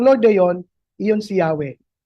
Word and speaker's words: Yahweh: Sabi ng mga Hebrew scholars, ang tamang basa sa YHW ay Yahwe.